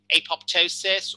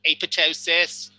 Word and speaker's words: apoptosis: mechanism that goes by one greek term apoptosis or apoptosis or apoptosis depending on who's doing the pronouncing this is immediately to